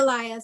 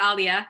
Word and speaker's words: Alia: Member Barry yes hi Elia sorry I mispronounced your name earlier okay it's Alia it's okay okay um